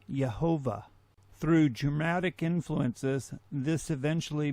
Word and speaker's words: Yehovah: If we attempt to pronounce God's divine name as it is written with the vowels that are included, we get the name Yehovah.